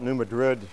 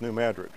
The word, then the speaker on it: New Madrid: Madrid seismic Zone and if you call it New Madrid you know you're not from Missouri it's New Madrid there's a town in